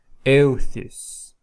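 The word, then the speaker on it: εὐθύς: So here is a diphthong, you pronounce it eu, euthys, euthys.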